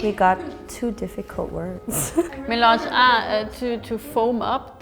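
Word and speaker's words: mélange: Maybe I pronounce it milange. Oh yeah, it's French.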